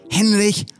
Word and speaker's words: Henrikh: now called targaryen and if you're saying it in his native armenian he's called henrikh and let's end